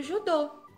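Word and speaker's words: judo: Depois, nós temos aqui duas crianças praticando judô. E judô em inglês é quase a mesma pronúncia. Judô, judô. Só puxa o O no final. Judô.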